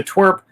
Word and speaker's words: TWRP: So Twerp It's spelled TWRP, and that stands for Tupperware Remix Party.